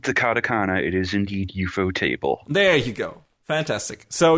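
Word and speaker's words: ufotable: if you read the cakana it is indeed eupo table there you go fantastic so eupo table I always great I always pronounce it correctly hooray yeah because I was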